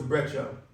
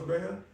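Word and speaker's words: Brejcha: ago I went to a a concert Boris breta is that how you pronounce it Boris Brea Brea Brea Boris Brea he's a techno DJ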